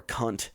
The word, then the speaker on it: Kant: Now, that statement is actually closer to Kantian ethics, which is my boy Immanuel Kant, or Kunt is the way you actually should pronounce it, but no one does.